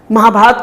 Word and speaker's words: महाभारत: तो हम ये कहें कि वो राम है, रामा नहीं है, वो महाभारत है, महाभारता नहीं है।